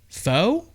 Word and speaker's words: faux: Faux? Mm-hmm. Really? Mm-hmm. Sorry if I... I'm pretty sure it's faux. Faux. Wait, F-A-U-X? F-A-U-X. Oh, I'm thinking of F-E-A-X, right? Fuck it. Fox, faux, whatever.